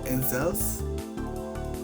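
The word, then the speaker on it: inXile: NX, and NX or NZels, because you gotta pronounce the X with the Z, so it's NZels and NZels Clock World Revolution were confirmed as console exclusives.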